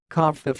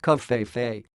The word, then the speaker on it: covfefe: Associated Press went with covfefe, suggesting a Spanish pronunciation, as did some others who suggested covfefe rhymed with chief, the Spanish word for chief, pronounced jefe. But others thought the second syllable should rhyme with leaf.